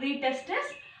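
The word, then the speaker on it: rete testis: So this accessory duct, it consists of reed testis. TE is silent. You have to pronounce it as a reed testis.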